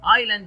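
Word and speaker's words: island: ايلاند يعني جزيره ما بنطقش حرف الاس.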